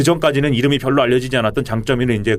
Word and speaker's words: 장쩌민: 상당한 그 소재를 과시한 장쩌민 강태웅 민 우리 갈 그 문민정부 때는 강 태 민 이라고 했는데 이후에 이제 이 용어를 중국 사람들이 하는 발음으로 하자 그런 것처럼 이미 됐어요